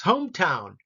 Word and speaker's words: hometown: Pretty even, but the second syllable is town. I think it's more of an emphasis. Hometown. Landmark.